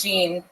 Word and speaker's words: Jean: first name wrong or they get Gan on the first they say it wrong all the time it's yeah all right and what do you normally say when they say it wrong I say it's Jean and then you yeah